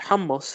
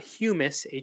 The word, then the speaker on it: hummus: we all know Hamas and yes it's pronounced hummus I know lots of people like to say hummus hummus and hu mmm us not houmous hu em us and this hummus right